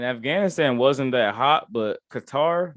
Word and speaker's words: Qatar: wasn't that hot but qatar man cutter as they pronounced it that place was